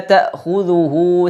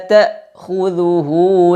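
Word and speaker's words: تَأْخُذُهُ: Kemudian ta, ada hamzah sukun, jelaskan ta. La ta, bukan la ta, tapi ta. Hamzah sukun diucapkan dengan suara yang langsung terputus, ta. Kemudian khudhuhu, ada kha, ada dzal, ada ha yang dhammah. Kha tebalkan, khu. Kemudian dzal dan ha tipis, dzu.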